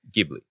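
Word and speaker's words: Ghibli: maybe our listeners don't it's pronouns gibli with a hard G this is the the GIF GIF thing all over again but when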